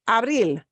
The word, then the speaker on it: abril: Abril. No, no, No. Obeys the rule. We punch the end.